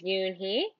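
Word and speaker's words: Unhei: turning around it was Joey your name is Yun he he asked her with his eyes open wide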